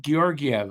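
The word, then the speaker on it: Georgiev: 2511 and wins gor how do you say that gorv I think is how they pronounce it now 24 wins mon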